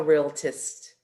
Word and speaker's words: Realtist: Is that how you pronounce it? Close, Sacramento Realtist.